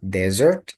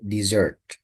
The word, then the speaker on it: dessert: dibacanya apa ditulisnya apa so be careful not desessert but dessert Oke be careful this